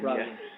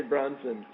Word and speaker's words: Brosnan: And Brosnan. Pierce Brosnan. What did I say? You say Bronson. Every time you say his name through all the years of us being friends, you always say Bronson, which is fine.